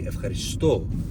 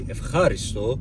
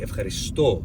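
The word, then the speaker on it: Ευχαριστώ: In modern Greek, you say Evcharisto. You don't say Evcharisto, you don't say Evcharisto, you say Evcharisto.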